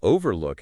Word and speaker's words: overlook: Refuge has the emphasis on the first syllable reh fight while overlook has the stress on the first syllable of over o overlook.